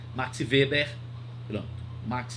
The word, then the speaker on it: Weber: Você estudou em sociologia, começa com W, isso, Max Weber, que a gente não diz Max Weber na pronúncia alemã, Max Weber, pronto, Max Weber e Hans Kelsen.